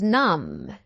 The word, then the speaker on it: numb: The next word is numb. Numb. B is not pronounced numb which means without the power of feeling and or we can say dead end dead end.